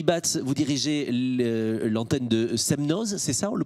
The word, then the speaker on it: Semnoz: Rémi Batz, vous dirigez l'antenne de Semnoz, c'est ça? On le prononce comme ça, à côté d'Annecy? Oui, l'étape du Semnoz.